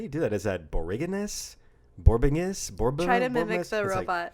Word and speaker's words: borborygmus: It's pronounced borborygmus. Borborygmus? Yes. Mus or miss? Mus. Borborygmus. Borborygmus.